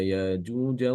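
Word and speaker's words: يأجوج: Inu F ARD ya nanti untuk bacanya Ibnu katir itu dengan mengganti atau mengibdalkan huruf hamzah ini Hamzah Mufrad diganti dengan alif qolu ya dalzal qarnaini Inna yaajuja wa maajuja mufsiduna fil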